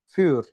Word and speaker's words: für: Huruf U umlaut itu dibaca tetap seperti U, tapi dengan bibir bulat. U. U. Contoh, grun. Grun. Atau für. Für. Ingat, pembacanya tetap dengan huruf U, tapi dengan posisi bibir itu bulat. Jadi, für atau grun seperti itu.